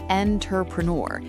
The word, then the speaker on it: entrepreneur: Most people look at the letter E at the start of the word and they say N, like the word enter. Right, entrepreneur. That's how it's spelled, so that's how we naturally want to say it. And that is exactly where the professional authority vanishes. This is a French loanword.